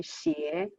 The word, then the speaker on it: 斜: 远上寒山石径峡 The last character, many of you know the character would know that its pronunciation is usually 斜, but in this poem for rhyme, well, it's pronounced as 峡.